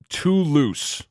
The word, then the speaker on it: Toulouse: Pawn to loose Thunder is it to Lou I don't know how to say it's French as you've probably figured out by now is it Tulu how do I say that tool house too loose okay is it literally too too loose it's